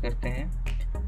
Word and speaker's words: IASC: Generally, Asteroid search campaigns are conducted by IASC pronounced "Isaac".